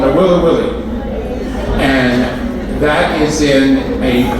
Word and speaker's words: Nawiliwili: It's called Nawiliwili.